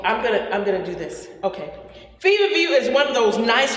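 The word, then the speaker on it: feverfew: Fever view, and the way it's spelled, just like fever, like I have fever here, and it's F-E-W. Fever view, F-E-W on the end.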